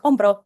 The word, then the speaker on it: hombro: Whereas that same letter, the H, is a silent letter in Spanish. So in a word like hombro, we actually don't pronounce that letter at all.